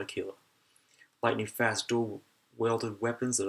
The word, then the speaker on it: Aquila: Aquila. Rhymes with tequila, but I'm just going to call it Aquila.